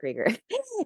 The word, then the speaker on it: Krueger: I'm krger but it looks like Krueger it's with one L and then Krueger but you pronounce it creger and um my website